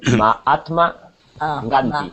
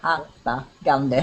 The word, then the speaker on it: Mahatma Gandhi: Se pronuncia gustaron. Entrenó. ¿Qué más? Aprendió. Aprendió. Y luego el nombre es Mahatma Gandhi. Mahatma Gandhi.